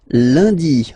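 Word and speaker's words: lundi: And in France, uh, the week starts with Lundy. Monday ly. Okay, remember N is pronounced like Liy Lundy.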